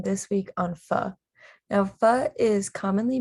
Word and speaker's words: pho: my food presentation this week on pho now fa is commonly mispronounced as foe but the correct pronunciation is indeed fa so the history and issues of the tha